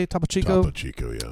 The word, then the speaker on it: Topo Chico: Topo Chico, yeah.